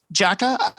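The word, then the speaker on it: J.A.K.Q.: It stopped production after J AKQ Jacka it's pronounced which was the second one which was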